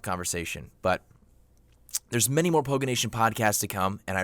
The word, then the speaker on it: Poganation: It is pronounced Poganation, and don't forget to call in at 1-800-POGANATION for the next podcast.